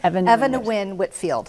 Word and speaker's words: Eva Nguyen Whitfield: I was just going to say, how do you pronounce her name? Eva Nguyen Whitfield.